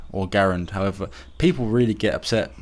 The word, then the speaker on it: Garand: as I understand it'd still be the M1 grand or Garand however people really get upset depending on how you pronounce it I've always pronounced the grand I know that his name was actually Garen but nonetheless that's an incredible rifle by the